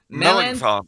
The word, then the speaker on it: Melanchthon: of the week is how do you pronounce that? Philip Melan. Melanchthon.